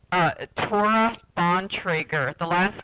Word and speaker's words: Bontrager: to say your name so my name is pronounced a trauma Bontrager the last name is pronounced on Traeger and